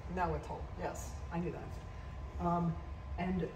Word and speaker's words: Nahuatl: And this is in Nahuatl, which I'm not pronouncing correctly. Nahuatl.